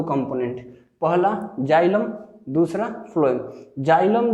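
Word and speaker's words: phloem: फ्लोएम को अगर हम लोग उच्चारण करते हैं तो कुछ इस तरीके से आएगा, ठीक है, फ्लोएम।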